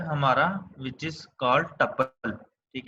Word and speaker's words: tuple: So second data structure है हमारा which is called टपल, ठीक है। ट्यूपल बोलते हैं उसको इन एग्जैक्ट प्रोनाउंसिएशन के ट्यूपल।